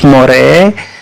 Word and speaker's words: More: Santo Thomas Moore Anta itu bacanya more atau memang bacanya lurus-lurus Moore silakan karena kebanyakan yang